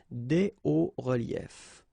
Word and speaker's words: des hauts reliefs: then it's quite simple, because S and S, but then we don't pronounce them here. Des hauts reliefs.